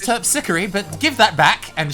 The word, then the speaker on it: Terpsichore: I'm playing on Miss Terpsichore. It's pronounced Terpsichore, but give that back, and she snatches that out of her hand.